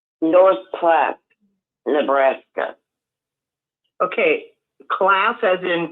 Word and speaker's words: Platte: But it's not Platte, it's Platte. Okay, but it is the name of it is Platte. Is that correct? Yes. Okay. It's just pronounced Platte.